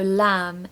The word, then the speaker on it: lamb: that there are a few words in English which have silent B's on the end so Lam is an example of that number 11.